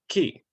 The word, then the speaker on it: chi: to the second power Greek letter Kai pronounced key uh key Square variable cannot be